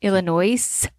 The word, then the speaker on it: Illinois: There's an S on the end of Illinois. Is it S silent? Right. Illinois. Nope, that's not how you say it.